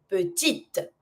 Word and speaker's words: petite: If it's feminine, I'm always going to pronounce the consonant that is before my E at the end, but I'm never going to pronounce my E at the end of a word that has no accent.